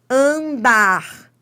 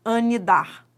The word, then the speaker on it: andar: Porque esse N não é pronunciado. Se ele fosse pronunciado, você falaria algo do tipo anidar. Ani. Você não fala assim. Você fala an. Então, esse N nasalizou o A.